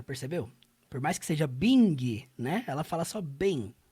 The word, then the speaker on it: Bing: Em relação à pronúncia, toda e qualquer palavra que você vê no inglês que termine com ing, você não pronuncia a letra G.